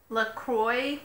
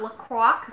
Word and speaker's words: LaCroix: know it's always - look Kroy not lacrosse I know in the